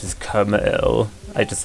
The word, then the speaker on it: Krmal: me, yes, I do know that you actually pronounce it Krmal. I just like saying it Krmal.